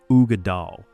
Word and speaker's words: Uigeadail: Pronounce it Uigeadail, and watch Scotch snobs nod approvingly.